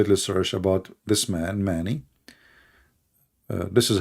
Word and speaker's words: Mani: And if you want, you can go and do a little search about this man, Mani. This is how you pronounce his name.